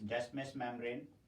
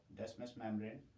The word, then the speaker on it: Descemet's membrane: From D is Descemet's membrane. Descemet's membrane. The T is silent.